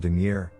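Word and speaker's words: dingir: old sumerian sign called duneer she pronounced it like danger but with two eyes and that it meant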